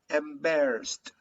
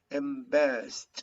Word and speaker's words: embarrassed: is british okay repeating embarrassed embarrassed embarrassed there is like a final t embarrassed the e d is pronounced like a final t wondered wonder started started